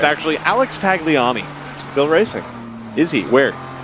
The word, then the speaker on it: Tagliani: Tagliani? No. Nope. Tagliani. It sounds like how somebody from New York would pronounce his name.